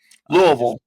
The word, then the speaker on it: Louisville: Louisville. Just for the pronunciation guide for those Cardinals.